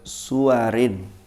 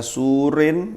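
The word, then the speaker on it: سور: jam'i kelawan mengumpulkan baina suwarin. Bacanya jangan keliru. Suwar itu jamak dari surah. Jamaknya suwar. Kalau sampean baca surin, apa artinya surin? Apa rek?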